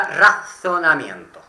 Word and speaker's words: razonamiento: Eso sería razonamiento. Ahí, bien pronunciando la Z. Razonamiento.